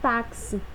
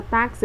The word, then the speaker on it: táxi: Na palavra táxi eu tenho 1, 2, 3, 4 letras. Mas eu tenho 1, 2, 3, 4, 5 fonemas, certo? Porque esse meu som de X, ele tem som de KS, o kiss, kiss.